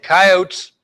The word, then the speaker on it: coyote: knows this guy and coyotes or coyote here it pronounced both ways There song dogs here